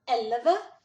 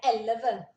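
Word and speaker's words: elleve: Depois vem aqui em cima, elva. Quando tem duas consoantes juntas, a gente pronuncia bem rápido. Então, seria elva.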